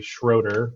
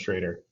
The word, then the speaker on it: Schroeder: Everybody calls me Schroeder, but technically it's pronounced Schrader.